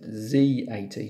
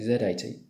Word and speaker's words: Z80: occurred to me that I should actually pronounce it z80 not zjt but that's probably the correct pronunciation but I'm gonna say Zed 80 so this thing then